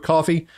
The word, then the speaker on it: Ko-fi: You buy a guy a cup of coffee, support the channel. It's easy as that. The link is is in the um description below as well, and it's called KO-FI, but it's pronounced coffee.